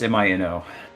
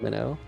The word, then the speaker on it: Mino: So I shortened it to just MINO, and that's the story. I mean, That's why I thought it was pronounced Mino, because it seemed like a Japanese name to me. That's Imagine how hard pronounced Minnow.